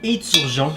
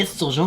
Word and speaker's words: esturgeon: Quand on prononce à Montmagny éturgeon, je ne sais pas pourquoi, Éturgeon. c'est esturgeon, mais on dit éturgeon.